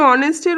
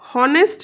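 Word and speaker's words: honest: vowel আছে তাই তার আগে এন বসলো কিন্তু অনেস্টের ওটা পরে আছে এইচটা আগে আছে কিন্তু উচ্চারণ হনেস্ট নয় অনেস্ট যেহেতু ও দিয়েই উচ্চারণটা শুরু হলো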